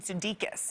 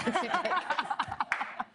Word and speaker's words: Sudeikis: I call him Jason Sudeikis. Okay, but his name is Jason Sudeikis.